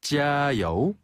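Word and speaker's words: 加油: 힘내라 파이팅이라고 할 때는 짜요. 찌아요. 짜요. 찌아요. 찌아는 더하다란 뜻을 가지고 있고요. 여우는 기름이란 뜻이에요. 그래서 원래는 주요하다란 뜻으로 찌아 여우를 쓰지만요 표현을 이제 응용해서 파이팅이란 표현으로 자주 쓰는데요. 짜요. 찌아요.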